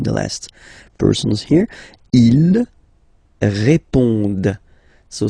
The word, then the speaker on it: répondent: Ils répondent. So same thing here, classic ending, ENT, but then you don't pronounce it. Okay? Répondent.